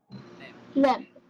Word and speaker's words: lamb: Which letter is silent in our consonant pair? B. B. Okay. It's not Mary had a little lamb. Okay. And it's definitely not lamp or limb. A lamp is a light. All right. The song doesn't go Mary had a little light. Okay. She is Mary had a little lamb with a silent B.